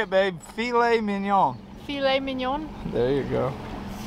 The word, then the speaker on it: filet mignon: be throwing those fish away say it babe filet mignon filet mignon there you go backstroke adding to